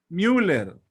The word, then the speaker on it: Müller: ve que el de müller como el mes y no como se pronuncia la palabra lleva diéresis si lleva bien miller mil años bueno como